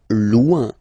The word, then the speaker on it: loin: Loin, loin. So remember, when you get this combination O-I-N, it's ouin, ouin, ouin, okay?